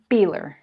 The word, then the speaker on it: Beeler: Dori has, by the way, is it Beeler or Beeler? Beeler. Beeler. I have this proper German pronunciation.